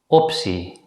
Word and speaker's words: optie: If the letter combination TEA at the end of a word is preceded by the letter C or P, it's usually pronounced as si. In this situation, the letter T is pronounced as a voiceless consonant S.